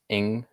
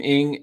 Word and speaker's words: Ng: How do you say her last name? I think it's just Ing. Kim Ing, and Minnesota Twins GM Thad Levine as potential replacements.